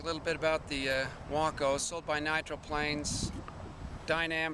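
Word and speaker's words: Wako: The correct pronunciation on the name is Waco, not Waco.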